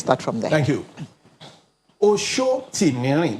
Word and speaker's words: Sotimirin: Shotimeri, that's the full pronunciation.